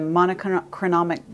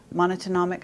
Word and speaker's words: monatomic: Because I know that there's a whole movement in your speech where you're talking about manna from heaven, the monochronic gold. Monatomic, how do you say it?